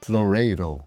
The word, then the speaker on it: Loureiro: Loredo. Lorero. Yeah, it's Yeah. Yes. Works well. Do you roll the R? Yeah, we roll the R.